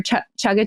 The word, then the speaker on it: chaga: Your chaga chai?